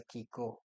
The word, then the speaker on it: Kiko: So this brand, example, by the way, we pronounce our brand as a Kiko.